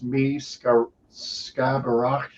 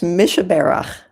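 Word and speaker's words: Mi Shebeirach: Um, and uh, I don't know if I can pronounce this properly, but it's me sky barak. Yeah, it's Mishabara.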